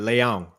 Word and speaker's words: Leão: It's like there's a little ng at the end. Leão, sort of.